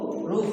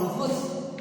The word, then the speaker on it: Ruth: POP campaigner says to Ruth Okeke. It is pronounced as Ruth, not Rufus Okeke.